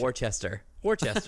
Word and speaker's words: Worcester: Yeah, like, I've heard 20 different pronunciations, not one of them right. Worcestershire. Worcester. Yeah, Worcester.